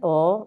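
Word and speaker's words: -al: It's not al but ul, not ain'ts but unts, not ant but unt.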